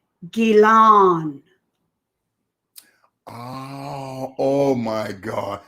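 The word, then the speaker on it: Ghislaine: Here's how you say her name. Gilan. Oh my God. Say that again, You're Mom. welcome. Mind blowing. Gilan.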